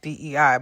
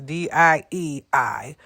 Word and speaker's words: Diei: But in better, lighter, brighter news, Kimberly Dai, Lord forbid it's even pronounced DEI, but it's DIEI.